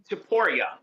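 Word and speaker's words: Topuria: Is it pronounced Topora or Taporia? Taporia.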